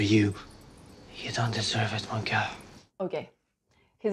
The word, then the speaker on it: mon cœur: He opens way too much the vowel. We would say mon cœur. See, like that, mon cœur. He says mon cœur. Like, it doesn't sound like mon corps, but that's the way. So it's kind of in between, not very good.